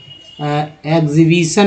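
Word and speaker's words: exhibition: लेकिन ई एक्स से जो भी वर्ड अंग्रेजी का वर्ड स्टार्ट होता है उसका भी उच्चारण एक्स ही कहते हैं। जैसे एग्जीबिशन, मान लीजिए एग्जीबिशन, ठीक है, एग्जीबिशन हो जाएगा।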